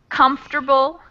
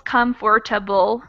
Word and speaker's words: comfortable: Number 9, we have words with a lot of syllables that get condensed. So comfortable, interesting, chocolate. So even though they're written with more syllables, comfortable, we cut out one of the syllables.